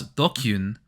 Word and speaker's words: DQN: Tips list. Pronounce Dokyun, a thug, bully, or someone who's part of the dregs of society.